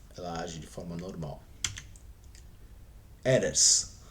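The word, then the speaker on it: ארץ: Age de forma normal eres né ou alguns pronunciem como erets né mas esse o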